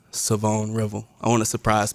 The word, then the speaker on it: Shavon: back to when you committed has has been pronouncing as Revel and that's you know obviously that's how it's spelled but that's not the correct pronunciation so it is savone revel savone revel oh I was gonna try to keep